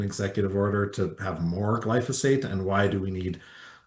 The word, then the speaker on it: glyphosate: Why do we need an executive order to have more glyphosate?